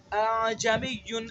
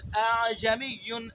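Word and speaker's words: ءَأَعْجَمِيٌّ: پہلے حمزہ کو تحقیق سے پڑھنا ہے، دوسرے حمزہ کے اندر تسہیل کرنی ہے. اعجمیٌ اعجمیٌ اعجمیٌ.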